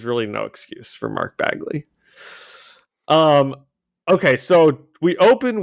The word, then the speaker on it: Bagley: Brian Michael Bendis penciled by Mark Begley to Bear Bagley sorry thanks I uh no I want you to I will I will be annoyed if Mark Bagley listens to this episode